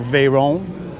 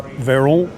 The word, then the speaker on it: Veyron: Then we got the Veyron. Am I pronouncing that right, Mr. Vinwicki? Ed Bolian? You're Veyron.